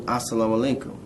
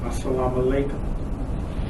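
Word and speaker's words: السلام عليكم: There is a mu sound at the end of the word salam, and it's followed by a wa sound.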